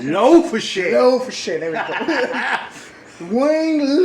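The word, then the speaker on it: Le Fessier: And the synopsis for this movie is Darren Silverman, which is played by Jason Biggs, Wayne, how do you pronounce it? Low-for-shit.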